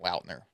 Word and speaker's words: Lautner: was Sorry, I think it's pronounced Lautner. Of margarita.